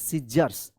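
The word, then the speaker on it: scissors: form and then T एच ई N then cut paper P ए पी ई R paper with सीजर्स एस सी I double S ओ आर एस सीजर्स तो देखिए यहां पे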